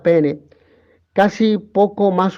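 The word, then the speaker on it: paene: deriva del adverbio que se escribe en latín pa pero que se pronuncia pene casi poco más o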